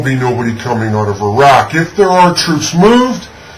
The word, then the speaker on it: Iraq: That's right, it's pronounced Iraq, not Iraq.